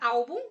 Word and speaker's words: álbum: A palavra álbum termina em um M. A sílaba tônica da palavra álbum é a AL, paroxítona.